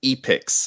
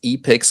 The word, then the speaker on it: Epix: that they're also buying epics i think i'm saying that right because it's spelled e-p-i-x uh and i'm just